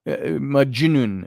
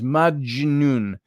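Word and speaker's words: Majnun: thought to be Majin uh uh maun I guess it is maun m a j n u n is the way it's spelled in English or ginp possessed and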